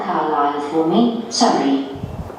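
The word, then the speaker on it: Carlisle: and your address 45 carile way could you spell carile for me sorry it's c a r l i s l e you don't pronounce the S car way and that's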